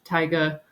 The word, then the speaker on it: taiga: And that's where these maps of biomes come from, looking at like tundra, taiga, or taiga, depending on how you say it, temperate deciduous, rainforest, temperate grassland, deserts, all of that.